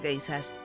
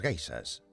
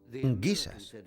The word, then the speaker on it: geisha: Los soldados oyeron hablar de las geishas, guisas, como ellos pronunciaban, y creyeron que las chicas que se acostaban con ellos en los parques eran guisas.